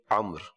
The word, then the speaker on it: عمرو: تو درست جو ہے وہ یہی ہے جس انداز میں یہ لکھا ہوا آپ دیکھ بھی رہے ہیں، اور اس کا تلفظ عمر.